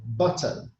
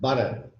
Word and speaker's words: butter: Similarly, butter, butter. It's not butter, butter. Yeah, there are no D's in the middle of it.